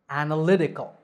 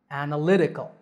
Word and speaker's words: analytical: second syllable analysis analysis the word analytical has five syllables and the stress is on the third lee analytical analytical this is an adjective